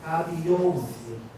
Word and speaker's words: Kabiyesi: And the correct pronunciation is Kabiyesi.